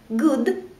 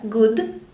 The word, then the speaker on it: good: исключения их нужно запоминать например в слове Good у краткая Good или в слове ФТ